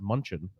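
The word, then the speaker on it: München: that was pretty fun I think they pronounced it Munchen uh that was it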